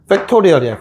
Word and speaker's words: 팩토리얼: 나는 약간 교포처럼 하고 싶다면 F 발음 내시면 돼요. 알겠죠? F. TH 발음, TH가 아니구나. F 발음해서. 알겠죠? 팩토리얼이야, 팩토리얼.